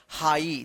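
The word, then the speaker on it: high: Rule पढ़ा था कि आई के बाद यदि जी एच रहता है तो जी एच क्या होता है? साइलेंट रहता है और आई का आई उच्चारण होता है हाई।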